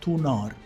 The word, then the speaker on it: Thunar: In fact, in exact pronunciation, it is Thunar, the wielder of lightning and thunder.